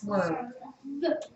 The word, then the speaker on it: swerve: with me very good no don't do that V because you're going to end up putting a u at the end of that word when you spell it you don't want to do that it's swerve stop right at the V sound okay here we go